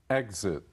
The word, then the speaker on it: exit: Exit. Exit. 离开。 After the movie, please exit from the rear of the hall. 在电影播毕之后，请由影厅的后方门离开。 Here I should remind everyone that.Exit or exit, the two pronunciations both are correct.